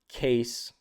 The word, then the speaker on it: Caise: I'm calling it Case. It's spelled with a CAISE.